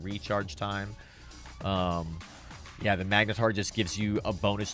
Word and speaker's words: magnetar: on Eve Wiki which is quite quite wonderful magnetar that's how you pronounce it yes thank you key thank you the magnetar effect is one of the most desired effects